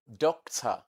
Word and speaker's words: doctor: And it is always found in a syllable that is not stressed, unstressed syllables.